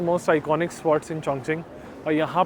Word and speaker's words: Chongqing: रखा है I love चंग चिंग सो आप देखोगे चंग की स्पेलिंग आप पढ़ोगे तो चंग और क्यू आई एनजी है but they pronounce it एस चंग चिंगस तो बहुत सारे एरियाज